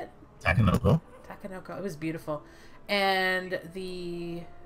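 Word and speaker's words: Takenoko: Tanoko? Oh, yeah, Sushi Go Party. Yeah. What was it? Tanoko? Is that how you say it? Takanoko.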